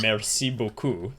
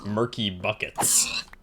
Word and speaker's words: merci beaucoup: he does he does tend to pronounce merci beaucoup thank you very much as murky buckets okay so although we're